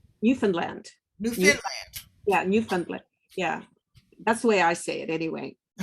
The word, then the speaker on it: Newfoundland: She is from Newfoundland, Canada.